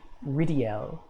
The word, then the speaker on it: Rydell: he pronounces his name i always call him lord rydell but he pronounces it ridiel it almost sounds elvish as you can see